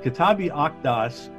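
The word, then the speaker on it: Kitáb-i-Aqdas: the akedas yes the q is like a k and kitab means book so kitabi octas is the book of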